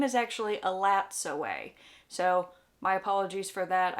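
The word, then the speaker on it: Elatsoe: book and I always heard the name as alas away like there was a silent T in the name like the T wasn't pronounced well it turns out it's actually supposed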